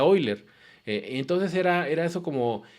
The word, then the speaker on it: Euler: y diciendo los que yo creo que se pronuncia hoy leer entonces era era eso